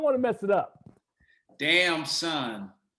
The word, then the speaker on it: Damson Idris: to mess it up damn son the easiest way to remember it damn son is this how are